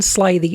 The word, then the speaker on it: slithy: The I in slithy is long, as in writhe, and toves is pronounced so as to rhyme with groves.